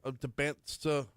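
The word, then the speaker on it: Dybantsa: Uh, AJ Deansa, Debant, I'm gonna get that name wrong every time because the T is before the S.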